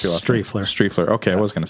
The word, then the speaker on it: Striefler: How do you pronounce your last? Strefler.